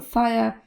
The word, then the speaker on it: fire: tutaj zbyt dużej niespodzianki w brytyjskiej wersji angielskiego powiemy Fire bez r a w piosence śpiewa